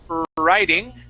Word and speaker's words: writing: now as you notice there is a w at the beginning of these words but in both words that W is silent okay uh so the